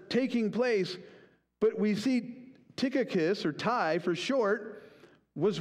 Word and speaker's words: Tychicus: Tychicus, right?